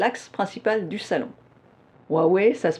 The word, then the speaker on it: Huawei: wel puisque c'est l' axe principal du salon huawei ça se prononce huawei je répète roi ouais ouais ouais ouais je